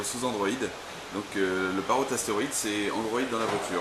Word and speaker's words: Asteroid: voici l'astéroïde, c'est comme ça qu'on prononce. Oui, le Parrot astéroïde.